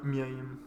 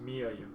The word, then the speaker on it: Mia Yim: Ouais, Miaim. Non, mais comment tu la prononces? Mia Yim. Mia Yim.